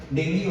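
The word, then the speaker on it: dengue: इस ब्लड में हम लोगों ने एक, जैसे डेंगू बीमारी होता है, डेंगू कहते हैं, सही प्रोनाउंसिएशन उसका डेंगू होता है।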